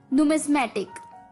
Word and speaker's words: numismatic: तो चलिए, the 10th word for the evening is, well दोस्तों ये वर्ड है numismatic.